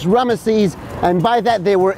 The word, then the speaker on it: Ramesses: saw it in the ancient Greek, and it's pronounced Ramesses, and by that they were able to combine both together and solve the mystery of ancient Egypt.